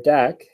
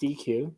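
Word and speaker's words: deque: double-ended que or a deck um sometimes it's pronounced DQ but either way um and the idea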